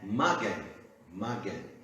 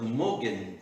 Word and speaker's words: Magen: A palavra hebraica usada é Magen, que nos lembra da frase Magen David. Muitas vezes, hoje em dia, é pronunciado Mogen David.